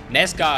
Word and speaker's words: NASCAR: Ja, und da wird Anna, sagt es dann auch nochmal, die NASCAR, ja, NASCAR heißt es, Mann, ey, die und ihre Aussprache ist der Wahnsinn.